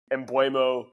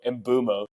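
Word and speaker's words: Mbeumo: Embuemo, we get rewarded for holding Embuemo, finally. Or Mbumo, sorry. Everyone's been telling me that I pronounce his name wrong. Mbumo.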